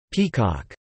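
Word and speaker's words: PCOC: paranormal contracts oversight Commission DC OSI pronounced peacock as appointed by Mayor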